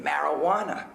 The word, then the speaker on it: marijuana: How could I give up hope in a world where J is the silent letter in marijuana?